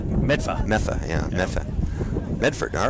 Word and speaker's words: Medford: I think it's pronounced Metha. Medfa.